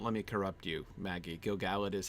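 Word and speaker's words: Gil-galad: pronounced gilgalad don't let me corrupt you maggie gilgallit is how it's pronounced it's one of those names i've been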